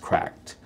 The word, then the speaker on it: CRKD: This is the Nitro deck from a company called CRKD, or I believe it's pronounced cracked.